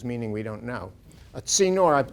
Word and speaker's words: Tzinor: A Tzinor, the dot means it's pronounced like T-S-I-N-N-O-I, the Hebrew letter tzadeh, which is Tzinor.